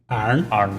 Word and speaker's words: Iron City: Iron City beer is pronounced iron. Arn man.